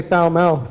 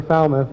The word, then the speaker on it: Falmouth: a little more properly like it doesn't say foul mouth for Falmouth anymore or or Yarmouth ply